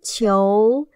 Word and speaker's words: 球: 球，七，游，球，二声球。